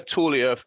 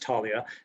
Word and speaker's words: Talia: was so was this tell us where tullia or however you pronounce it where did that fit in in your technology journey certainly it's pronounced talia and and uh um